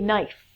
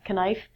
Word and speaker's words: knife: Next one is a knife, not knife.